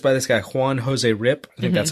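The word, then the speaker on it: Ryp: and the artist by this guy Juan Jose rip that's how you pronounce his name came out in 2007 the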